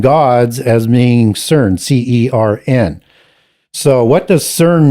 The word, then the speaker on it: CERN: It's can be pronounced with as a C-E-R-N as in CERN, or it could also be pronounced Kern, K-E-R-N, just as in Hebrew you get Keren.